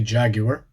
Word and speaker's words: Jaguar: So the emphasis shifts from the A at the start to the A on the end. So Jaguar. Jaguar. It's like a long A at the end instead.